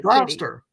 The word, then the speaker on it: Gloucester: Gloucester. Gloucester, yeah. Gloucester, right? It's Gloucester. Gloucester. Gloucester. No, not Gloucester. It's just Gloucester. Gloucester. Gloucester. Don't say the E. So, okay, imagine the spelling is Gloster. Gloucester.